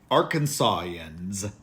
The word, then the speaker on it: Arkansan: up Arkansas in yeah sounds real real classy Arkansas yans so you're going to have to get out